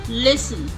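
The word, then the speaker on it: listen: column dam डैम अब है हमारा टी साइलेंट कुछ शब्द है जिनमें टी साइलेंट रहता हैसल एसन लिसन लिसन ऑफेन ऑफेन सॉफेन सॉफेन इन्हें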